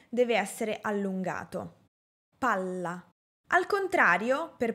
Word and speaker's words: palla: PALLA - PALA Para pronunciar la doble "L", debo alargar el sonido de esta letra y dar menor énfasis a la vocal que la precede, en este caso la letra "A".